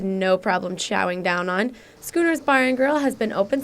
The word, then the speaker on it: Schooners: gr here in Bloomington now the way you pronounce it is Schooners not shoers not Shooters but Schooners the owner really wanted